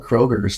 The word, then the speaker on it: Kroger: Kroger's? Yeah, What do you call it, dude? I call it freaking Kroger because there's no S. Kroger.